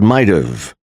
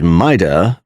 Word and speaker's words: might have: Might have is pronounced as might've before a vowel. He might have advised me to do that. Might have is pronounced as might'a before a consonant.